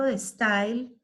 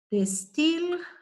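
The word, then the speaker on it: De Stijl: Theo van Disburg, si bien hace parte del movimiento de style, el neoplasticismo tiene varios sinónimos. De style, se escribe S-T-I-J-L, de style, ¿sí?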